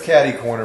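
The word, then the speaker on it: cater-corner: Wait, is it catty corner? It's spelled catter corner. It's catty corner for those of us who speak English. Right.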